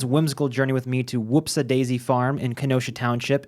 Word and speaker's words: Whoopsa: whoopsy daisy, you know, but it's not quite whoopsie. I suppose you could spell it any number of ways based on the uh folk exclamation, but uh the way it is spelled officially and the name of this farm is Whoopsa, wh osa daisy farm.